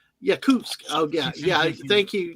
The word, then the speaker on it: Yakutsk: Yakus. Oh yeah. Yeah. Thank you. You corrected me because I know Anna's told me that before. But I I'm sorry. It's yak cuts to me because that's the way we tried